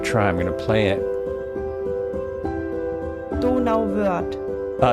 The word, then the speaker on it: Donauwörth: Donauwörth. Donauwörth.